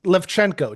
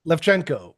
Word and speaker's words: Lewczenko: It's pronounced Levchenko, just like it's spelled. Oh, Uh, yeah, Oh, no, okay. it's Lewczenko. Levchenko.